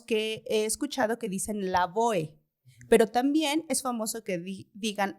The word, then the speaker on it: Lavoe: de cómo se pronunciaba si hay dos formas la boe o la boeto porque es en español y ahí me sonaría lógico que es que incluso nombres extranjeros o bueno cuando son así Se tendría que pronunciar completo no y es la boe porque así se así se está escrito no con todas las letras pero entiendo que veces